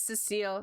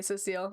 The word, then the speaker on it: Cecile: This is Jackie, this is Cecile. Cecile, right? Or do you say it like Cecil? I'm really proud of the tongue. Okay, Cecile.